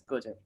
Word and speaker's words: Gojek: He is a young engineer, graduated from Pune, and now working in Indonesia as do you pronounce it as Gojek? Or? Yeah, correct. It's Gojek.